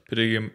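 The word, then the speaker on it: Padegimaite: Padiga, yeah.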